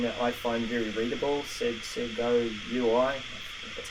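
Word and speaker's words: Segoe UI: I've got a favorite, something that I find very readable, Sego UI, that's how you say it.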